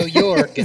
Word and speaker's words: Yorg: So Yorg. So I'm gonna go around here. Hard G is G, so Yorg.